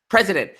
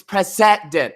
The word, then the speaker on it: precedent: what did I say I pronounce precedent that's why I said president and people are like it's precedent I was like really oh